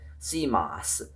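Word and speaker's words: CMOS: while I was off using a thing called Camos. Um, C O C O C M O S. That's what it's pronounced camos.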